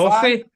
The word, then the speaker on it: Ko-fi: We got a Ko-fi. Is it Ko-fi or Ko-fi? Ko-fi. Is it Ko-fi? Coffee? No, it must be coffee because it's rhyming with coffee.